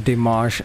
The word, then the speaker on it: Dimash: lovely gentengentis uh let's discuss dimash okay i'm pronouncing it properly this time this is dimash and holy whatever this was cash i mean